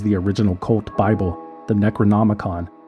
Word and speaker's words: Necronomicon: original cult Bible the Necronomicon which he repeatedly mispronounced as the necrom monicon necrom monicon was a complete work